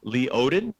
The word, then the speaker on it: Lee Odden: Certainly, my name Leodden. It's pronounced not like it's spelled at all. Yeah. Lee Odden, like Minnesota, and they can find me on Twitter.